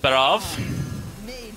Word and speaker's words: Barov: As the one and only time you will hear me try and pronounce it correctly, according to Celestalon. And now back to our regularly scheduled Lord Barov.